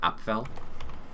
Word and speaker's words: Apfel: I know what the actual name is, it's like Apfel. So if you look, that's how you say it, Apfel.